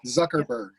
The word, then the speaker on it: Zuckerberg: Mark Zuckerberg. Did I pronounce that correctly? The Facebook guy. Yeah, the Facebook guy. Zuckerberg.